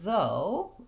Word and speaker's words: though: in these words so in the word though we just pronounce that o-u-g-h as one sound o technically in english o